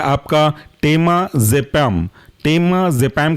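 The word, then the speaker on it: टेमाजेपाम: लोरा जपाम next example है आपका टेमा जपाम टेमा जपम के स्पेलिंग है टेमा टी ई एम ए और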